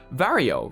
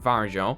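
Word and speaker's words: Varjo: for consumers for example vario right now which apparently is the correct way to pronounce it and not vargo is now going to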